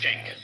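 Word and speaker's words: Cenk: but his name is Chen and he's not he's he's Turkish it's spelled E N it's spelled C E N K right but in in Turkish it's pronounced Jen oh all right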